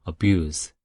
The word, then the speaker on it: abuse: Z 발음으로 발음을 하면 동사인 거고요. abuse. 이렇게 S 발음으로 마무리를 해야 명사가 되는 것이죠.